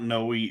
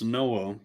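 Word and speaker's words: Noe: the day that Noah it's spelled no OE here so it's not noi it's Noah entered the Ark entered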